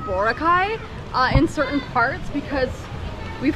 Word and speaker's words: Boracay: island, because we're on Boracay Island, we've heard other people call it that, but I guess that might be wrong, and it's actually Boracay.